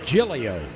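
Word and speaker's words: Giglio: Off the Bench meline gilo fastest tiger on the team she's a blur g i g l IO pronounced gilo New Orleans native her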